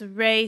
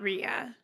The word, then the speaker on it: Rhea: It's Ray Seahorn, not Rhea.